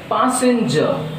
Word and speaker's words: passenger: So there are 3 syllables, so stress is on first syllable.